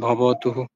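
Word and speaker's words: ভবতুঃ: কার চিহ্ন থাকে হ্যা আর যদি কার চিহ্ন না থাকে তাহলে যুক্ত হবে যেমন ভবতু ভবতুহু হ্যা বুঝাতে পারলাম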